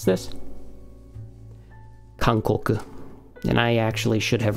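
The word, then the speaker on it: かんこく: How do you pronounce this? Kankoku.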